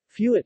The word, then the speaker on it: fuet: Fuet, Catalan pronunciation, fuet, is a Catalan thin, dry-cured, sausage of pork meat in a pork gut.